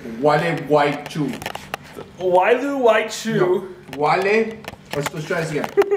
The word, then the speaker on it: Gualeguaychú: How do you pronounce this city again? This is gonna be the theme of this video. It's Gualeguaychú.